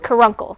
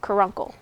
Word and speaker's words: caruncle: It's caruncle, caruncle, okay? Caruncle. Caruncle.